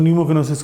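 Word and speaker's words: pneumoconiosis: कोलेजिनियस का मतलब क्या होता है और न्यूमोकिनोसिस क्या होता है? निमोनिया है ना, तो वो पी साइलेंट है इसका।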